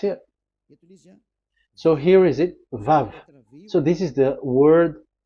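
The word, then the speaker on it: וָו: Vav. So it's V as in Vogue. So it's really V.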